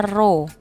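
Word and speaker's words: ρ: Nah, ini dibacanya rho.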